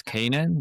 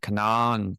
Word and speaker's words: Canaan: Our founders pronounced them as Canaan, that's why we followed that pronunciation, but I have heard Canaan, Canaan, you know, I think they all make sense.